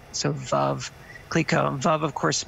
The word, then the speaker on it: Veuve: So as an American, I rhyme it with love. So Veuve Clicquot.